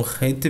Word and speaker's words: Het: Vocês viram que eu pronunciei um R bem longo, né, como se fosse dois R's bem forte, porque o Het a pronúncia do Het é dessa forma. É um Het bem puxado, tá, pessoal?